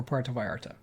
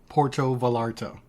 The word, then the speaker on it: Puerto Vallarta: Americans, but Canadians saying Puerto Vallarta while I was there. I don't know why you have to clown the people on their pronunciations. I didn't say it correctly. I didn't roll my R.